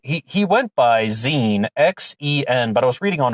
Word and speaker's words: Xen: he went by Xen, X-E-N, but I was reading on a forum about someone who had been researching him who said that it was pronounced Xen, like Z-E-N, but it's spelled X-E-N, Xen.